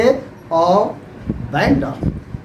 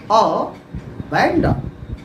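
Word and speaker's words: abandon: के लिए त्याग देना वहां क्या हम प्रोनाउंसिएशन बोलेंगे अ बैंड ए बी ए एन डी ओ एन अ बैंड तो देखें यह होता है आपका करेक्ट प्रोनाउंसिएशन यह क्या है रिलेटिव है?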